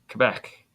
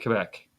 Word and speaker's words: Quebec: Kevin from Quebec 2021 Quebec that's how you say it Quebec yeah it's like quec is quec no it's it's French bro you just you don't